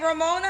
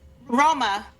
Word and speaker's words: Roma: Is her name Ramona? How do you say your name? Roma. Roma.